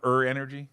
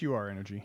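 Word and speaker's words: Ur-Energy: are energy i mean it's just pronounced oh it's not er energy yeah it's you are energy you are uranium energy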